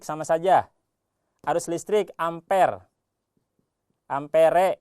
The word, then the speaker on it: ampere: Ampere ya, bukan ampera ya. Itu mah warung ya. Ampere re amper dibacanya.